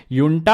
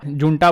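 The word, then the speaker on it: junta: जुंटा बोलते हैं, ऐसे युंटा प्रोनाउंस करते हैं इसको।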